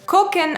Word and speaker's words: gucken: zen sometimes shown okay kokken on the other hand also means to see but it is slang spelled with a g but pronounced like a k at the beginning no yes no g-u-c-k-e-n